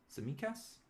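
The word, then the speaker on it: Tsimikas: um we'll see how the t is silent all right so it's samikas samikas okay thank you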